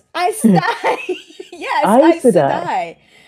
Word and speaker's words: Aes Sedai: Aes Sedai. Yes, Aes Aes Sedai. Sedai. Oh, sorry. That's another one that I think I was saying with multiple syllables that were like extra syllables until the audiobooks.